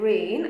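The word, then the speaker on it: rein: e I and rain are e I and rain are the straps that are used to control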